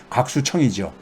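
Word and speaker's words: 郭树清: 여기서는 뭐냐면은 올 초까지만 하더라도 중국의 금융계 그러니까는 하나의 그 영향력 있는 인사 중에 하나가 꼬아수칭이라고 우리 발음으로 곽수청이죠.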